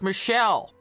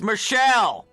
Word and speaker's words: Michel: get mad at me it's a French name and it's gender neutral over there except it's pronounced Michelle even if you're a man it's Michelle you were raised strong